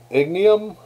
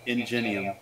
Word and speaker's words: Ingenium: right for eda uh i could never pronounce his his superhero name ignium ignorant whatever uh ingenium and genium thank you yeah now it's a